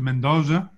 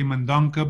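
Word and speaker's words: Mendonça: I pronounce it Mendoza, but there Mendoza, are right. People that say Mendonca because we don't have the Cedilla in English alphabet.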